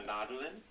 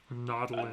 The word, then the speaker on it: Nautolan: I am a Nautolan, a bounty hunter who specializes in assassin missions.